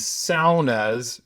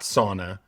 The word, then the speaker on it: sauna: They have a membership that includes cold plunges and sas because that's the proper way to pronounce the word. SA, not sauna.